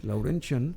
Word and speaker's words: Laurentian: profesor emérito en laurentian se pronuncia así laurentian laurentian University University de Ontario Canadá